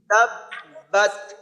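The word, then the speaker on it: تبت: রাহমানির রাহিম বিসমিল্লাহির রাহমানির রাহিম প্রথম শব্দ তাব্বাত তাব্বা তাবতাবাদ আচ্ছা এইখানে এই তা আমরা জানি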